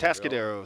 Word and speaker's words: Atascadero: Tascaderos. Tascaderos, Yes, sir.